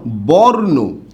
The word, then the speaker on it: বর্ণ: আছে আর আমরা জানি রেফ থাকলে উচ্চারণ কি হবে র হসন্ত হবে কি হবে র হসন্ত